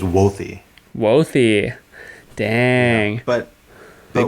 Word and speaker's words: Wothe: we've known each other you've pronounced it woth and the correct pronunciation is wealthy wealthy dang but the wolf is fine wolf is